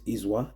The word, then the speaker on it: Izwa: The YouTube channel is Izwa. It's spelled as IZW That's IZW and it's all in caps.